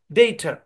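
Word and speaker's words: data: সহ সাউন্ড ব্যবহার হয় ডেটা এখানে শেষের এ তে কোন স্ট্রেস নাই এ কারণে এখানে মানে কি হচ্ছে আপনার ই ব্যবহার হচ্ছে আর কি শো সাউন্ড ব্যবহার হচ্ছে তারপর আরেকটা উদাহরণ দেখেন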